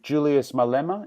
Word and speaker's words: Julius Malema: And this was by Julius Malema. Is that how I pronounce his name?